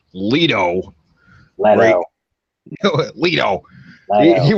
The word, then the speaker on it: Leto: it we heard a lot about Jared Leto pronounced Leto well we know why you would thought about